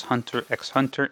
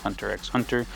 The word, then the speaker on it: Hunter x Hunter: Hunter x Hunter and I'm pronouncing it that way because there's an X in the name I don't care if in Japanese it's silent I'm an english- speaking person this is English Hunter x Hunter so this is the